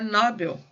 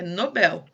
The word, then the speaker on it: Nobel: Nobel é uma palavra oxítona, tá? Em inglês eu acho que ela é Nobel, se eu não me engano. Mas em português ela é Nobel.